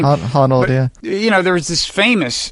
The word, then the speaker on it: Honnold: I don't know how you pronounce the last name. Honnold, yeah.